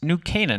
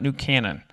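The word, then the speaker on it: New Canaan: For those who didn't know how to pronounce this wonderful town, it's New Cananan, not New Canon.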